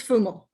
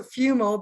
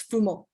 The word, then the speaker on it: Fumo: It's Fumo. Okay, I didn't want to butcher it. I'm the queen of butchering names. No, that's okay. Most English people pronounce it Fumo, but in Italian, it's Fumo.